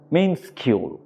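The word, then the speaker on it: minuscule: ছোট small in amount মিনসকিউল উচ্চারণটা হচ্ছে মিনসকিউল তাহলে মিনসকিউল কথার অর্থ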